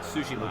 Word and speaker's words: Tsushima: I guess I should change the way I pronounce that. Tsushima, Dadachi. not Tsushima.